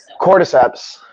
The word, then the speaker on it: cordyceps: Someone tell me how to pronounce this big word. Cordyceps.